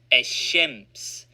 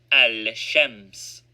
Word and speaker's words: الشمس: the solar letter, e.g., ash-shams is pronounced ash-shams and not al-shams.